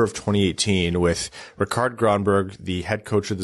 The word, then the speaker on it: Rikard Grönborg: You got to roll those R's, Rikard Grönborg.